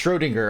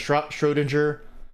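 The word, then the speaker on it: Schrödinger: It's Schrodinger. I was I was wrong all these years. I thought it was Schroinger. It's Schrodinger.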